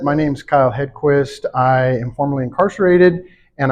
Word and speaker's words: Hedquist: So that being said, my guest today is Kyle Hedquist.